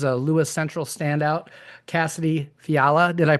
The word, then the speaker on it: Fiala: Uh, today my guest is a Lewis Central standout, Cassidy Fiala. Did I pronounce that correctly or is it Yeah, I did pronounce That's awesome because I usually screw things up like that.